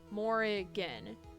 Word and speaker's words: Morrigan: of it i forgot well morgan is like it's three syllables more again also why are we